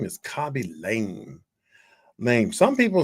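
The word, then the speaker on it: Khaby Lame: I may not be pronouncing this guy's name correctly, but his name is Kabi Lame.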